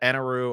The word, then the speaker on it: Enel: But when we get to Skypiea, it is cool that Enaru, or Enel, however you want to pronounce it, in the anime they call it Enaru, but it's spelled, Enel.